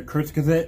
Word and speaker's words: Kurzgesagt: we are going to be diving into another kurtz gazette video finally learned how to say it uh